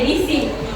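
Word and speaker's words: EDC: namanya edisi edisi ya E DC ya bacanya edisi ya oke terus orang kalau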